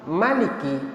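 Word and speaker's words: مَلِكِ: dari kata yang berbeda kalau Maliki tidak panjang itu berasal dari kata almilku almilku itu artinya milik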